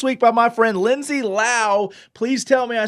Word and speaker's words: Lowe: It's Lao, like how.